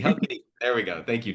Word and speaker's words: Halkidiki: Now, we just wrapped up here our Greece trip in Thessaloniki and I can never pronounce either of those very well. How So Kibiki. Hel- How Halkidiki, Kibiki. Halkidiki, Halkidiki.